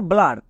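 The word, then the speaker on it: blur: করে না এর ক্ষেত্রে ফাস্ট নিয়ম ইউ এর পরে যদি আর থাকে ছোট ওয়ার্ডের ক্ষেত্রে যেমন দেখো ব্লার এখানে ইউ এর জন্য সাউন্ড চেক করবই না কেন আমরা জানি ইউ এর পরে আর আছে ইউ এর পরে আর থাকলে ইউ আর একত্রে আর সাউন্ড দেই তাই রুলস চেক করার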